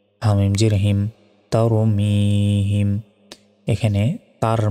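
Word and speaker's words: ترميهم: মি হামিম জের হিম তারমিহিম এখানে তার মিহিম অনেকে বলে এটা ভুল বলতে হবে তার ঠোঁটটা গোল হয়ে আসবে তার মি এক সেকেন্ড টান হবে হিম তারমিহিম বা জের বি হা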